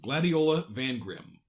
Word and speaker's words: Gladiola Van Grim: And there is a silent N at the end. Here, I'll pronounce it for you. Gladiola Van Grim.